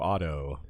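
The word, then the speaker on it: Otto: But a bunch of, some British listeners were like, you're pronouncing it like the car, like AUTO. I was like, I hate to break it to you, but it's the same Yeah. here in America.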